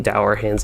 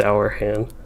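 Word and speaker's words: Dourhand: the deep i mean dour hands in the deep i've always called them durham's but i'm pretty sure it's actually pronounced our hand probably run through this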